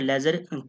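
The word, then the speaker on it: ledger: उसके बाद है लेजर की बात की जाए तो लेजर क्या क्या अर्थ होता है, डी इसमें साइलेंट होता है दोस्तों, ये भी आपने ध्यान में रखना है।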